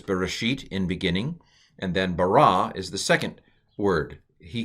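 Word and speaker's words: ברא: the pronunciation is concerned so this is bara so the accent is on the ra ra ra ri no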